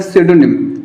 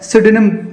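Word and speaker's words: pseudonym: ना, उसे बोलते हैं सिडोनिम, पी साइलेंट होता है, सिडोनिम उसको बोलते हैं उपनाम।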